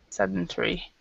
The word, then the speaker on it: sedentary: Sedentary. Yeah. Sedentary. I think you have two. The sedentary is the British pronunciation, and Americans we say sedentary.